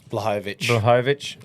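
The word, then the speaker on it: Błachowicz: How do you pronounce that, Gropes? Blachowicz? Blahovic.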